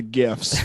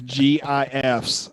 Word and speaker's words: gif: like where are the gifts where are those gifs and yeah and i do i do pronounce it gif because i believe the g stands for graphic so i go with gif fun fact either way